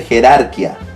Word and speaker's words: jerarquía: en nuestra clase claro me obliga a romper la regla la clase no la voy a considerar porque aparece la tilde disolvente en la fil de rúbrica y es automáticamente rompe la regla y obliga que pronunciamos adecuadamente jerarquía dejando de lado la